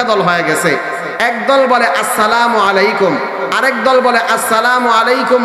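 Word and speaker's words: السلام عليكم: সালাম দিব আসসালামু আলাইকুম সালাম দেওয়ার সময় মিমের পেশ মিমের পেশের মধ্যে যখন উচ্চারণ করব মিমটা যখন উচ্চারণ করব তখন ঠোঁটটাকে গোল করে ফেলবো মিমের পরে আইনটাকে আইন মিমের পরে আইনটাকে সঠিক ভাবে উচ্চারণ করব আসসালামু আলাইকুম ওয়া রাহমাতুল্লাহ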